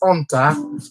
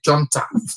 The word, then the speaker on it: junta: And I know you heard me pronouncing the word that start with J as junta, but yeah, you don't pronounce the J, you don't say junta, it is junta.